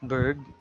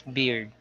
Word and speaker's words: beard: So it's not bird, but it's beard.